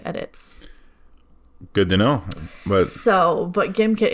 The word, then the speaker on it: Gimkit: So GimKit, GIMKIT. Yes. GimKit. GimKit. Don't which pronounce is not, it Gymkit. Right. Because it's not for physical education.